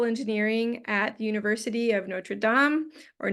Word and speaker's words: Notre Dame: Yamil Colon, who is an assistant professor of chemical engineering at the University of Notre Dame, or Notre Dame, depending on if you want to pronounce it in the French way.